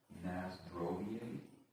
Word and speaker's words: na zdrowie: Nazdrovie.